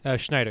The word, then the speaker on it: Schneider: So, Schneider, is that how you pronounce it? Schneider, yes.